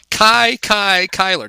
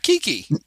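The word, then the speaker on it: Kiki Cuyler: would talk about him Kai Kai Kyler not Kiki not Kiki Kai Kai Kyler I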